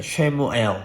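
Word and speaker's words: Samuel: 그래서 히브리어로 쉐마 하면 너희는 들으라는 뜻인데 사무엘이 원래 히브리어 발음이 샤무엘입니다. 쉐무엘.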